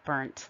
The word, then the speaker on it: Burnt: little confusing for people i've heard it pronounced brno bear and so i put an example of mine uh in the parentheses there my last name is actually burnt like uh sunburnt so if you could